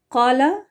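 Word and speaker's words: قال: उर्दू बोलने वालों में कला क्यू के साथ पढ़ना चाहिए इसकी जो स्पेलिंग इधर है देखि यह क्यू के साथ कला यह बहुत दफा आता है कुरान में तो इसको के एच लगा के खा के साथ पढ़ना यह खाला पढ़ देना यह गलत है यह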